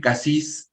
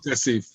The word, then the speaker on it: Cassif: En primer lugar lo presento a Ofir Cassis, que es, a ver, cualquier cosa me corregís, es diputado del Frente por la Ofer Democracia y la Kasif, Paz. perdón, Ofer Kasif.